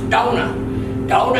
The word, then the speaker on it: Dona: and that decal Invicta looks like it says Donna do ma that is actually pronounced Dona Dona in Portuguese beats of mother that is our mother -